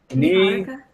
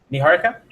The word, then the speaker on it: Niara: welcome to the show how do you say your name Niar I'm sorry Niara Niara yes okay perfect so welcome